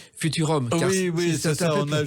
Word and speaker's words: FVTVRVM: Dancing par les Naive New Beaters, un album alors qui s'écrit FVTVRVM et qui s'appelle en réalité Futurum.